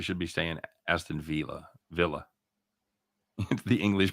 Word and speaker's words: Villa: max says we should be staying aston villa villa the english pronunciation i like to say via the force of habit you know spanish one